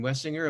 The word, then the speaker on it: Wessinger: number of years uh catherine wessinger am i pronouncing your last name correctly doctor that's exactly right all right uh i've